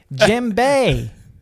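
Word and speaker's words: djembe: spirit jimbei spirit jinbe you say jim bay d it's spelled with a d spirit the gym the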